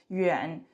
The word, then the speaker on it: 远: So, here yuan this part inside the radical the pronunciation is yuan yuan second tone.